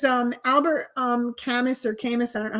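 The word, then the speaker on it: Camus: Camu. Camu is how you pronounce it.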